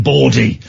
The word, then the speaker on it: bawdy: It's getting late and it's getting bawdy. Guys, bawdy as in B-A-W-D-Y, not as in B-O-R-E-D-Y.